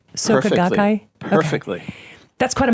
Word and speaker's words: Soka Gakkai: And your book is The Star-Spangled Buddhist, Zen, Tibetan, and Soka Gakkai Buddhism and the Quest for Enlightenment in America. Did I pronounce that right? Soka Gakkai?